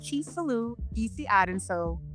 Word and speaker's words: Chisolu: did better than most it is pronounced CH saloo but I tell a